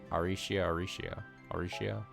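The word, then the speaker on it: Arecia: I like how her name is it's Aricia Alrecia. But they say it like Aricia.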